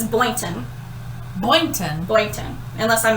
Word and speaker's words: Boynton: was listening to it she was like it's boynton boynton boyton unless i mispronounced it but i think she said it's